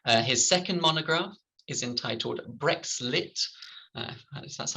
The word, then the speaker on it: BrexLit: his research project was funded by the arts humanities research council his second monograph is entitled brexlit that's how you pronounce it uh british literature and the european